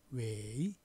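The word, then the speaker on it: 委: 맞길 위 중국 발음으로는 웨이 이렇게 발음됐어요.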